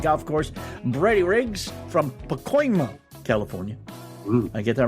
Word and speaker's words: Pacoima: Brady Riggs from Pacoima, California. I get that right?